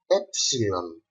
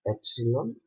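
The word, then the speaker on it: έψιλον: The following letter is the letter Epsilon. A Greek word that starts with this letter is the word elaphe, that means deer, and we pronounce this epsilon e, like egg, or example.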